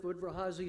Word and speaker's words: Udvar-Hazy: Udvar-Hazy Center.